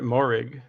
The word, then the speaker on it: Moehrig: How you pronounce it? You said it, Moehrig.